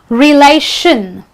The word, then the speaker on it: relation: Okay, now words ending with the word TION, the letters TION, are pronounced as shin. You don't say TION or TION, you say shin.